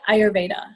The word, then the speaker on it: Ayurveda: Oh, so I never know how to pronounce it. I always read it and don't say it. Oh, you can say like Ayurveda.